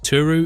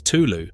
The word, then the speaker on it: Tulu: all the or is his turu is a mispronunciation since the real name is Tulu which is difficult for the natives to pronounce it is a name given